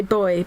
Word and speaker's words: buoy: Yeah, it's a buoy. We would say boy, but in that case, the Americans' pronunciation seems all correct, doesn't it? Because there is a U in it.